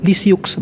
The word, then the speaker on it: Lisieux: Se escribe Lisieux, pero se lee Lisieux porque es francés.